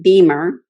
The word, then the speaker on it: BEMER: and say again what or maybe and maybe spell it uh this equipment um it's called b-e-m-e-r beamer physical vascular therapy and it's been in europe